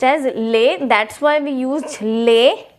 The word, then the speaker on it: les: Now the pronunciation of this will be lay, and it will be used with plural. Now LES, the pronunciation is lay. Now the S is silent, the last S will be silent.